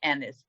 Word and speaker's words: Agnes: To answer the first question, we're actually told in the novel how the Agnes should be pronounced. Oh, we really? Oh, I missed that. In fact, I was curious to see whether Peter could stick with this Annis, because when you see it spelled, you think it should be Agnes.